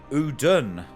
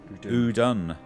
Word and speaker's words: Udûn: A strong 6th episode, which Udûn was the pronunciation. Udûn.